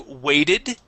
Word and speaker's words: weighted: Let's go to weighted. Okay, your ed ending was good, but this is a long A sound.